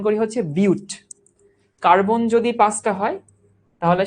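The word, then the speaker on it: but: কিন্তু উচ্চারণ করি বাট না। উচ্চারণ করি হচ্ছে বিউট।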